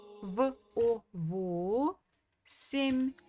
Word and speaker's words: восемь: So it will be во, во, семь, восемь, восемь. So again, the stress falls on O.